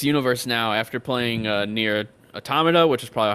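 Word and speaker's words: NieR: Automata: the narrat the narrator we've all been saying it wrong apparently it's near automata i always thought it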